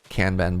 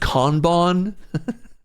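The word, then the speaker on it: kanban: our our our first canban board. Every time I say canban, I hear Joe Kim's voice in my head. It's pronounced conbon.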